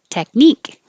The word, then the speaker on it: technique: we did that before technique so stress on the eek technique apologize and the